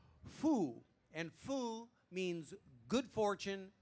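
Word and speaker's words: 福: today is a character that is / Matt pronounced foo and foo means good fortune blessings or happiness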